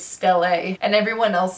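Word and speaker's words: stele: a that's how it's actually pronounced I always pronounce it as steel and then I watched the TV show and the movie and it's still a and everyone else says stelae everyone just pronounced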